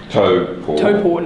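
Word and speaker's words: Taupō: We were mountain biking around Tauport. Nice. Tauport. Nicely pronounced.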